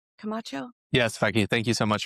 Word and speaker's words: Camacho: Did I pronounce that right? Camacho.